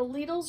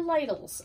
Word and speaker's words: Lidl: it was legal so whether you go to leedles or ladles i have a haul for you today i think it's like aldi and aldi so depending on you know how you want to pronounce it but i went today